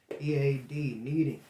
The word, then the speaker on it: kneading: we're meeting it that's how it's called meeting it's spelled k-n-e-a-d kneading for those of you who ain't never baked